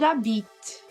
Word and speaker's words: habitent: Ou elles habitent, já que o H não pronuncia, então vai ter o som de Z.